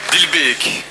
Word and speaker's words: Dilbeek: Comment prononce-t-on, pour pas que je dise bêtises? Dilbeek? Dilbeek.